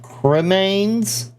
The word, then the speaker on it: cremains: Just for reference, he is not mispronouncing remains. He is saying cremains, which is kind of a portmanteau of cremated remains.